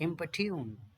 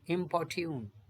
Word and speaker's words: importune: Next importune, इम्पोर्ट्यून, ये इम्पोर्ट्यून, इम्पोर्ट्यून, importune, इम्पोर्ट्यून जैसे इसमें लिखा है इम्पोर्ट्यून, इम्पोर्ट्यून और इम्पट्यून, ये ब्रिटिश वाला होगा importune, इम्पट्यून, क्लियर है। तो इसका प्रोनाउंसिएशन हो गया इम्पट्यून। अब इम्पट्यून का क्या मतलब